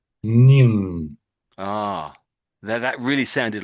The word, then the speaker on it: Ning: So this name here I would say is pronounced as ning.